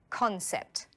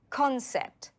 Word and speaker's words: concept: say it with me concept it has two syllables can you hear the stress concept the stress is on con and finally step five